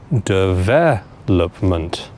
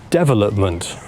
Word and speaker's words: development: needs to go on the second syllable. You need to say development like this.